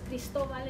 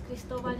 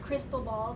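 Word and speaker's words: Cristóbal: correct everybody Chris was not Chris he was Christoval and he reminded him that his name was Christoval not cryistal Bal the way his teachers would pronounce it and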